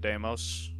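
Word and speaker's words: Deimos: it's actually pronounced fobos and damos hello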